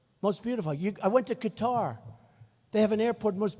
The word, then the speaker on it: Qatar: So this guy's showing me, a wonderful guy, showing me the airport in Qatar, which they say Qatar.